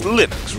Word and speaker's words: Linux: It's Linux, right? Linux. Torvalds himself said Linux.